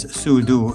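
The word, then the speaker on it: 速度: It's two characters, su du. Each character is one syllable in Chinese, and the word for speed is su du.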